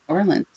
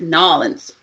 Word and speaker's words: New Orleans: You're supposed to combine the words. And take all, it's got like you took a peanut butter and you just smeared it. New Orleans.